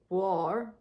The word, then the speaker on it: Guo: Warm as in war, as in warm. Guar. Guo is guar.